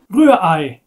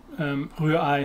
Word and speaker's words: Rührei: Rührei, scrambled egg in German, it's very difficult. But two German R's that you have to get from the back of your throat, this very, very alien to English speakers.